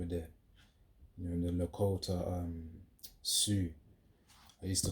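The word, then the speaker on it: Sioux: Um, Sue, I used to call it CX, but then when I actually searched up how to pronounce it, it's Sue.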